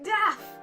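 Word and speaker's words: DAAF: I call it DAF. Ha! See? DAF! It makes sense. It's not quite spelled like Daffy Duck, but it's D-A-A-F, and we're going to talk about that.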